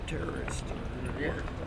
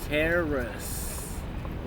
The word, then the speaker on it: terrace: We call it the rooftop terrorist. How do you say it? Because I can't. I got learning disability. Rooftop. Speech. Now I'm fucked up with rooftop terrace.